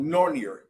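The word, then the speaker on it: Nornir: is we use a program called norer n n n i r nor is the way they they pronounce it um and it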